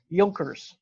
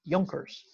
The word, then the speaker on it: Junkers: who were land holders in prussia were called yolkers it's spelled junkers but it's pronounced junkers and that meant that they held land the